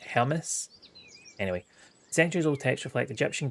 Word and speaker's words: Hermes: I heard recently how Hermes is pronounced, and it wasn't Hermes, it's like Hermes.